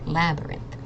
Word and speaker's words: labyrinth: It's another word for maze, but this Y is actually an I sound, so it's labyrinth, like a science lab, and then abyrinth.